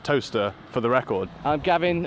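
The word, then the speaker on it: Towcester: in the town of toaster it is actually pronounced toaster for the record I'm Gavin a comes officer at cephalad council I can officially tell you it is pronounced toaster not cows Esther we're inside of Andria legends constituency of South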